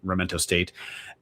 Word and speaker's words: Sacramento: And this week, the Vandals will be traveling to Sacramento State, Sac with a silent K, Sacramento State, and Portland State on the Thursday and Saturday.